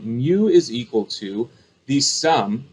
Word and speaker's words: mu: symbol mu okay that's how we say it mu all right mu is how it's spelled it looks like this and we pronounce it mu right kind of like u with an m